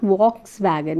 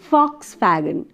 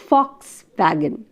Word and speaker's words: Volkswagen: Volkswagen, it is not Volkswagen, it is Volkswagen. Though it is V, it is pronounced with a f, Volkswagen, f.